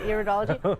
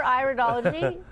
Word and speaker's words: iridology: We're going to talk about iridology or iridology. Potato? Is that tomato, one of those?